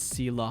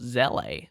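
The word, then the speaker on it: Seele: Onto our number 1 spot, you guys already know, and it is Seela Hyper Carry. Actually, her name is pronounced Zele.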